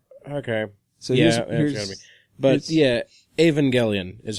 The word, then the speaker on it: Evangelion: just n GE it's that was pronounced Evangelion because the Evangel it means well you can have evangelical people or an evangelist ence but it's they do the hard G for in that for